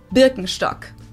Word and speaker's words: Birkenstock: their native accent so English speakers usually say Birkenstock in German we say bstock Birkenstock BTO which literally translates to Birch